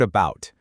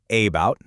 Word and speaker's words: about: It sounds like For example, in the word about, we don't say about, right? We say about. That at the beginning, that's a schwa.